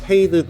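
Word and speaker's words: Fade: F 발음을 넣는 거예요 페이드부터 볼게요 웨이드라고 한번 보세요 웨이드 웨이드에다 F 발음만 넣는 거예요 웨이드 페이드 웨이드 페이드 웰 발음을 넣어서 부르시는게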